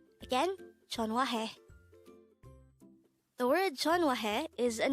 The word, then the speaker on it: 전화해: second syllable is H third syllable is he pronounce it with me Chon Chon again Chon the word Chon is an informal way of